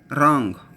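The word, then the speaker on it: wrong: रॉन्ग, आर इंग, डब्ल्यू आर को हम आर से प्रोनाउंस करते हैं, ये शॉर्ट वोवल ओ फर्स्ट प्लेस, और इंग हमने सारा का सारा आउटलाइन फर्स्ट प्लेस में लिखा।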